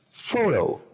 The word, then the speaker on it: photo: En esta palabra, foto, decimos photo. Primera sílaba es la que tiene el acento.